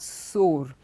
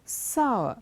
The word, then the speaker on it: sour: wrong with the pronunciation it's not sore it is sour which means pulling it